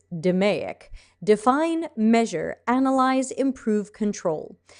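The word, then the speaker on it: DMAIC: lean six sigmas d-m-a-i-c i know some people pronounce that demeac and d-m-a-d-v i'm not sure how you'd pronounce that de modvi i don't know but i've heard dumaic said before lean six sigma's model for improving something that does exists is demaiock define measure analyze improve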